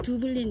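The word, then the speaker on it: Dublin: 만나서 인사하고 액센트가 영어를 굉장히 잘하시길래 어디 사람이냐고 물었더니 아일랜드 사람이라서 두블린 이렇게 얘기했더니 더블린을 그 현지 사람들은 두블린 이렇게 발음 비슷하게 하더라고요.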